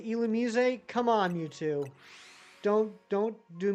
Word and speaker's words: Illumise: It's right up there, Mewtwo, with the correct pronunciation of Illumise. Illumise is apparently supposed to be pronounced Illumise, which is stupid, stupid, stupid. It doesn't even have an accent on the E.